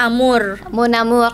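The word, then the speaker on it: amour: namur mau Namun cintaku amor amor gitu bacanya Amur gitu kan Terus ada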